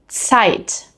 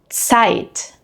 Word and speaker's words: Zeit: In German, however, z is always pronounced like a ts, similar to the beginning of the word tsunami, tsunami. Here are some other common examples. Zeit. Zeit.